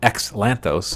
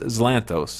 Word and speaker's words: Xanthos: I actually called him xanthos until he he told me that's actually pronounced zanthos and so he even